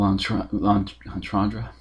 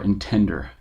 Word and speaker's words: entendre: It's kind of a bit of a double entendre, or intender, if you want to intentionally mispronounce things to piss people off, which I think is a good idea.